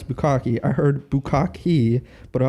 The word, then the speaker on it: Bukkake: For double consonants in Japanese words, you pronounce it at the end of the syllable, then completely cut the air off and pronounce it.